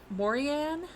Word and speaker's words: Morrigan: Such as the Morian. It's spelled Morrigan, but I've read that the G is silent, so I'm gonna say Morian.